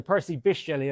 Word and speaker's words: Percy Bysshe Shelley: Percy Bysshe Shelley or sorry, Percy Bysshe Shelley, I learned on the train on the way down is how to pronounce that, runs a lucrative side hustle selling knives to teenagers on Snapchat.